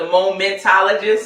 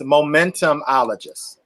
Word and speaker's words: momentumologist: Well, listen, we're going to put the momentologist. I think we're still saying it wrong, right? Pastor D? Yes, momentumologist. Momentumologist. And we creating healing spaces.